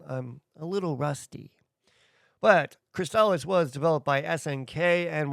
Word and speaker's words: Crystalis: It's not Crystallis, it's Cristales.